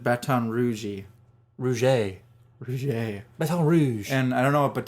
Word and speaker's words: Baton Rouge: Yes, they pronounce it Baton Rouge.